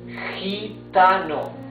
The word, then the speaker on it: gitano: Now, when the G is followed by letter E or letter I, in Spanish, it's letra E or letra I, right? Like in gente, you see it's a different sound of G. It's gente, that means people. Gitano. Gitano. Gitano.